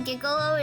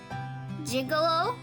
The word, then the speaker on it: gigolo: wrong with me the first g in gigolo is a soft g gigolo unlike gif gigolo i look over at